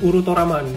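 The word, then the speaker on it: ウルトラマン: Kalau gua nggak salah ini bacanya harusnya Shin Urutoraman ya, kayak gitulah kurang lebih ya. Lalu kemudian ada logo Mafex, ada nomor 155 ya. Ini lagi-lagi ini tulisan hiragana, ini bacanya Urutoraman kalau yang di atas.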